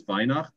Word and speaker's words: Weinacht: on good authority that the pro correct pronunciation is v as in the wine that you drink at night uh for